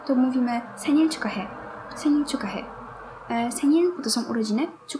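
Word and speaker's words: 축하해: Ciukahe, no bo tak to się wymawia. Ciukahe. To jest podobna zasada, co wcześniej rzekł. I hy łączy się w ky przydechowe. Będę to powtarzać, bo ludzie często o tym zapominają.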